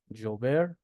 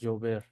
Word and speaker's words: llover: For example, in the Spanish we have the double l. Okay? That is pronounced it is always pronounced it as the y in yellow. yellow Okay? So, we have here the word llover that is pronounced eh llover.